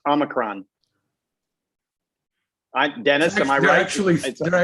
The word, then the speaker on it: omicron: interesting it's not over it's omicron not omnicrom it's common i said only crime no it's it's omicron i dennis actually there